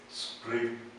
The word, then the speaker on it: supreme: the United States the Supreme Court the Supreme Court of Court the Supreme Court so um we've been talking about the emphasis on syllables this one the emphasis is on the second syllable supreme Supreme you still